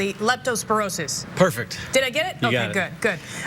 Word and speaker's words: Leptospirosis: And let me try to pronounce this correctly. Leptospirosis.